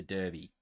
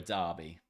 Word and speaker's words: derby: It's a derby, you know? Or a derby. Same thing. Different pronunciation.